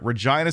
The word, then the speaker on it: Regina: Hailing from Regina, Saskatchewan, the Waltons have become an It's Regina. No, it is actually is pronounced Okay, so just so we're clear, Regina, Saskatchewan is pronounced that way.